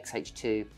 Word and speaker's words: X-H2S: Yeah, they kept saying the S like before the H. It's crazy. But I've got used to XH2 and then XH2S. You know, a little gap in between.